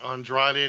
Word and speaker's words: Andrade: how that happened li dialo or android eye andretti idol joe's best friend he has an inflamed ankle say it right say it right andrade the idiot andrade the idiot okay and again